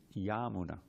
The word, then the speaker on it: Yamuna: It's actually Yamuna. Long A at the beginning, short A at the end. Anyone know why, grammatically? Because it's of the Yamuna.